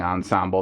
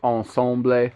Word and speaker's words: ensemble: they have in here it's hard for me to say ensemble and not say it stupidly like ensomble or something like that i know it's not how you say it it's just like i